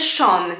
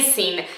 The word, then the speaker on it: Sean: To imię czyta się Sean, nie Sin.